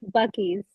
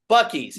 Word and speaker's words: Buc-ee's: I mean, and it was just, and how do you pronounce it again correctly? Buc-ee's. Buc-ee's.